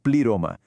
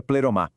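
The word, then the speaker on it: πλήρωμα: Ele usa a palavra grega pliroma, que a gente pronuncia pleromá.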